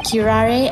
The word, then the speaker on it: curare: Special characteristics of curare and its effects on human subjects. Interesting. Curare? What's that? I've never heard that word before. Yeah, I'm actually don't know what curare means.